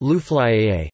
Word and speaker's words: Luflā'i: Lufla, I, pronounced Luflaiye, a Kashani variation of Latera, I.